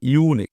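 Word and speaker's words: unique: ঠিক আছে তাহলে দেখ ইউনিক উচ্চারণটা এখানে ইউ এর উচ্চারণ ইউনিক ইউ তাইতো তার জন্য এ বসেছে ইট ওয়াজ ইউনিক এক্সপেরিয়েন্স এটা ছিল একটি অসাধারণ অভিজ্ঞতা ফর হার তার জন্য।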